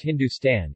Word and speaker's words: Hindustan: Vedic Sapta Sindhu while HND stn pronounced Hindustan is found in a